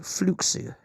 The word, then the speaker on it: Fluxo: I will probably refer to it as Fluxo Media, but it's technically pronounced Fluxo.